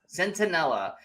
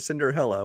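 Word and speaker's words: Centinella: Centella. Sentinella, who you first called Cinderella, which is a whole different movie we watched.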